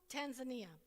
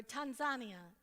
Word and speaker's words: Tanzania: we went off to mugumu Tanzania or Tanzania as is the correct way to say it so um here here's